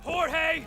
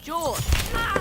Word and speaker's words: Jorge: one up get it Jorge my name is pronounced George don't you backtalk me Jorge what's happening I don't